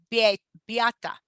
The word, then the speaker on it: Beata: I was looking for the pronunciation that you put on our rap sheet. I'm like, oh, it's right there. Beata.